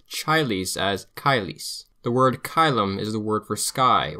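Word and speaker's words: caelum: The Romans would have pronounced chilies as kylis. The word kylum is the word for sky or heaven.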